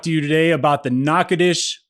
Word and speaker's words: Natchitoches: you today about the knockoutish Louisiana experience knock it ish I finally have it down I said it right just now I'm gonna spell it without screwing it up ready no because I have to look it up because I don't even know how to spell it correctly so n a t c h i t o c h e s Excellence spelled nachatoches but don't say it that way why oh because people